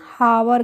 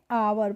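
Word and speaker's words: hour: तो देखिए इस पे हम हावर, यहाँ पे जो एच होता है या वो क्या होता है? साइलेंट होता है, इसलिए इसको हम हावर नहीं पढ़ते हैं, क्या पढ़ते हैं? आवर पढ़ते हैं, ठीक है।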